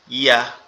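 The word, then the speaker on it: ي: ইয়াটা হচ্ছে আমাদের এই 2 দাঁতের পাটি একসাথে লেগে থাকবে, লেগে আপনার শেষ অবস্থায় এসে কি ছেড়ে দেবে, ইয়া।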